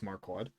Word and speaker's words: Marquad: this guy marquad that's how you pronounce it by the way it is marquad marquad he is an overworlder